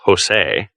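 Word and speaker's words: José: here poor fellow but Jose that is a Spanish name by the way and is pronounced Jose had no idea of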